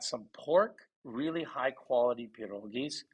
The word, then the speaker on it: pierogi: pork really high quality pierogies am I saying it right it's peroga which is a dead organ yeah Ukrainian is it's Veronica or or Peter here but pierogies is is common it's really more polish